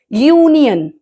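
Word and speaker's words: union: अ यूनियन होता है क्योंकि यूनियन य की साउंडिंग आ रही है वाई की ना कि नियन हम बोलते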